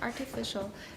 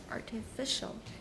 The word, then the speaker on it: artificial: Okay, where's the stress? Be careful. Artificial. Mm-hmm. It's usually artificial. For example, in this sentence, it is... And the stress is on which syllable? 第几个? 第三个. 第三个, good, okay. But in artificial snow, it's on the first.